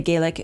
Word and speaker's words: Gaelic: that is there is a lot of Gaelic, or as some people say Gaelic, it's Gaelic, throughout this, and they